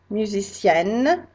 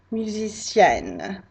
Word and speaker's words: musicienne: So really, when you make it feminine, you double the N and add an extra E. It really is very overpronounced. So musicien, musicienne. I hope you can hear that difference.